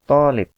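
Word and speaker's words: طالب: jatuh orang saja anak-anak Tholib kalau ini tonic coc-nya harus dua roket Jangan sampai salah membaca yang dua harokat lamia polip yang betul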